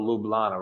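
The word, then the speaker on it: Ljubljana: in the name and the capital lublana rhymes with marijuana so already I love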